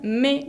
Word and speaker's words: mais: Ese me que está en el medio de la oración sirve para hacer una oposición, significa pero, y la S final no se pronuncia. Entonces, j'aime les bananes, mais je déteste les pommes.